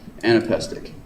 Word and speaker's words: anapestic: can still be used it's like I Amic except it has three syllables and there're two low syllables and a high syllable du D du du d d an aestic du du du you know when you're